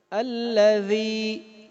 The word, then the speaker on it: الذی: الذی خلق. ذال جو ہے اس کو نرم پڑھنا ہے. زبان کی نوک، دانتوں کی نوک یہاں سے ادا ہوتا ہے. الذی.